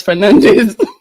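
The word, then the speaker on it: Fernandes: The Portuguese pronunciation. Yeah. Okay. Okay. We since we're in England, it's Fernandez.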